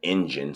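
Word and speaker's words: Enjin: A few different things like that, but it's uh uh E N J I N engine. So, it's uh it's spelled a little bit different, but uh get the engine wallet, get you some crypto.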